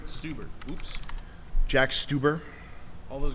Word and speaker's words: Stauber: yeah newo what are your thoughts on Jack stober's work it's pronounced stuber stuber oops Jack stuber all those girls have been